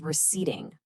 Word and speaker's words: receding: If it's just pulling back from his forehead, his hair is receding. Listen to that stress again. Re ceding.